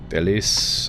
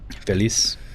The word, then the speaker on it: Feliz: Also, a lot of, like, Spanish specifically doesn't, like, fully pronounce words like Nuevo. Feliz. Like, a lot of times Feliz is, like, just barely, like, very softly pronounced in the point where you don't even hear the Z at the end.